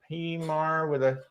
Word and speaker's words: P Marie: If you want to reach out to us, Trisha and P Marie with a silent P.